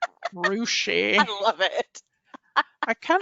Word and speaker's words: Russia: Renee And says there's a town then called Russia, but it's pronounced Rushi. Rushi.